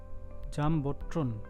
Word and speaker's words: Jumbotron: জামবোট্রন, জামবোট্রন উচ্চারণটা বললাম।